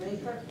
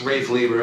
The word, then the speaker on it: Rafe Lieber: I believe, I don't know, is it Rafer? It's Rafe Lieber.